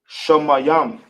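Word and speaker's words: שמים: How we pronounce it in the ancient will be Shamayam.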